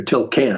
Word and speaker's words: Tilquin: So that night, a Belgian customs officer, Paul Tilquin, or Tilcan, I should say, pronounce it in French, came on a tandem bicycle to take him to another location.